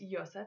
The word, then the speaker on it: Yosef: means God will increase this thing can also be spelled with an O and pronounced Yosef instead of Yusuf there is an American